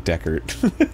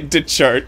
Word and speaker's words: Deckert: Well, it's Brian Deckert. Okay. I just say DeChart because that's what it looks like when you read it phonetically.